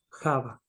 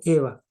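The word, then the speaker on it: Javá: nombre de su mujer Java se nos tradujo Eva yo lo pronunciaba para que es más práctico pero en realidad Java significa vida por cuanto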